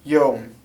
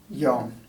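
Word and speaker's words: يوم: And this is pronounced yom. Yom. There's a slight difference between MSA and the dialects, where they might make this more of a yom, whereas the dialects it's more like it's like a O actually.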